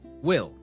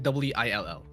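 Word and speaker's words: bhfuil: word, but the there's a word in Irish that's pronounced will. You know, you're like, "Oh, yeah, will." Like w i l l.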